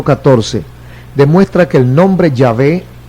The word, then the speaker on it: Yahvé: Aunque sus publicaciones admiten que Jehová no es la pronunciación correcta del tetragrama original hebreo, que se escribe con YHWH, ellos insisten en usar ese nombre solamente en vez del nombre más correcto, o Yahvé.